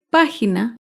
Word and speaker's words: página: Página se acentúa en la antepenúltima sílaba.